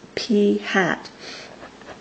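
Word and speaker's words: p̂: What we're looking at here is a proportion, or a sample proportion, which we pronounce p hat, of 37 out of 577.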